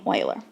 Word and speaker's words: Euler: value of it now even though it does look a little bit like Euler we pronounce his name oiler and the letter e